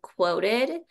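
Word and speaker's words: Qwoted: personal favorite one is called quoted it's spelled kind of funny it's qw um but unquoted you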